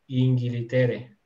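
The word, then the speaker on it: İngiltere: Así que lo que hacen simplemente es que nosotros que decimos Inglaterra, entonces aquí le meten una I en medio de la G y la L y dicen Inglitere, ¿cierto?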